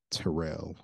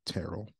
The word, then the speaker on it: Terrell: And I do switch between both pronunciations of the name Terrell or Terrell.